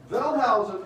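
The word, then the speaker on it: Wellhausen: see a a w in the German language is pronounced like V now velous is the original guy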